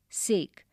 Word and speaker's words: sake: cracks narrow gaps openings sake a popular japanese drink sa is pronounced like far in father and k rhymes with way expensive costly made his way to went to page 31 6.